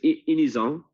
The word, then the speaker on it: Inisan: In French, it's Inisan.